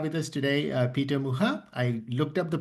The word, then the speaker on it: Mucha: Um it's a real pleasure to have with us today uh Peter Muha. I looked up the pronunciation tip you gave us just like Alons Muha.